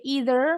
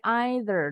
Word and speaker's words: either: don't like it either bacanya Boleh either boleh either duaduanya betul atau yang singkat me